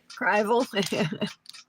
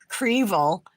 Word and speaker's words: Revel: I think am I the only one who pronounces it that way? Revel.